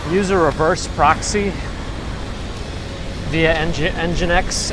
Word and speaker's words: nginx: a reverse proxy via engine X nginx nginx I think they pronounce it proxy manager and now